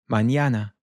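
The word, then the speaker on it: mañana: This is a special character which is still an N, but it's almost like it has a Y immediately followed by it. So, we get this N sound. Mñana.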